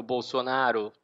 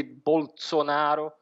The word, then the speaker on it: Bolsonaro: se deve sobretudo porque na língua veneta eles não eles não pronunciam esse bolsonaro como seria no italiano standar o italiano padrão eles tendem a fazer SS mais suave mesmo do bolo sonar então isso tem a